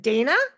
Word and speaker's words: Dayna: So, now I forgot to ask you, you pronounce it Dana. I do. I know it's got a why in there and it really people off, but you nailed it. Perfect. So, Dana is a transformative guide who helps individuals